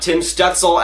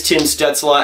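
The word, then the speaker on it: Stützle: Tim students Allah no it is not Tim's duxelle as have been saying for like the past year it is chin Stetz Allah and I finally gotten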